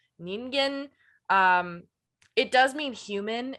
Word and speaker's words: ningen: type deal um but the word which we've been saying ninjin i think the proper pronunciation is something more closer to ningen um it does mean